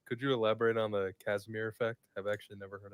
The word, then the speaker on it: Casimir: It's spelled with a C, so Casimir.